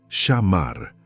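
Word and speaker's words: שמר: Pronuncia conmigo en voz baja, shamar.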